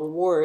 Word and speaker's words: Warwick: that was really amazing there's this town called war it spelled Warwick but it's just how to pronounce it so we actually got to stay